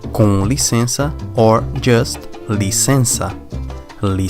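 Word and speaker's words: com licença: it is very simple you may use either cannoli Sensa cannoli Sensa or just the sensor li sensor to be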